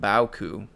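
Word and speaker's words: beaucoup: so definitely been there be a cup is pronounced bowku bauku don't know what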